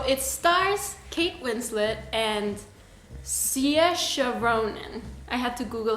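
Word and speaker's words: Saoirse: stars kate winslet and siasha ronan i had to google how to pronounce that because it's written how is it written something like that it's yours it's an irish name yeah it's kind of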